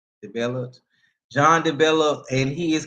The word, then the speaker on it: DeBellotte: DeBellotte.